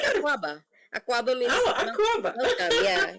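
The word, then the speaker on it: Akwaaba: aquaba aquaba I was right you just say aquaba aquaba means oh aquaba yeah yeah what words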